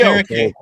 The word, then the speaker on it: Okereke: Bobby Okereke.